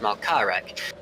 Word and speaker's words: Malcharek: So apologies to Malcharek, and I would simply not have known that he was supposed to be pronounced Malkarek if it wasn't for this pronunciation guide.